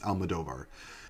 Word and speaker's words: Almodóvar: though I have always known that it is pronounced Almadovar.